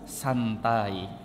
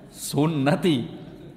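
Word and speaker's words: سنتي: Karena enggak ada harakatnya dibaca annikahu santai. Hanya dia jomblo itu bertahun-tahun. Loh, dalilnya mana in menjomblo bertahun-tahun? Ah, annikahu santai harusnya dibacanya sunati.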